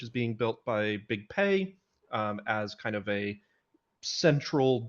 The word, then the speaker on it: Pi: please and our guests today are next slide P long please if I announce it bad uh just correct me how are you how are you I'm good um yeah usually in the US it's pronounced Pi just to avoid uh um sounding similar to